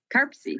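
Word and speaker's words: CARPC: this is how do they say it arpsie karpsy thank you all right so we all love our acronyms so mpo and karpsy thank you so this this will be a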